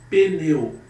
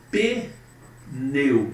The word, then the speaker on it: pneu: Quando eu digo, por exemplo, pneu, pneu, pneu, pneu, não é pneu, é pneu. Esse P é mudo. Pneu, pneu. É P mudo, pessoal.